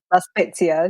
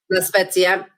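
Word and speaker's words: La Spezia: I changed trains in Laspza. Is that how you say it? Laspetsia. Yeah. Laspetsia.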